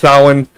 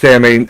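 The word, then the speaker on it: Samhain: I know it's pronounced Sin, but you know, a lot of people think it's Samine.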